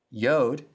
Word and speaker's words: yod: Yod sounds like the Y in yes.